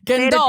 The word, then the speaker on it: Gandolfo: Okay, so add say it like Italian. Gandolfo. Italianly. Gandolfo? There you go.